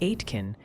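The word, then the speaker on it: Aitkin: Oh, and a little birdie or several hundred chatters mentioned atkin is more like atkin and mil lax is mil lax.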